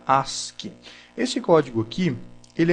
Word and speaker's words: ASCII: é o código as se escreve a s c i i mas se fala se pronuncia Ask esse código aqui ele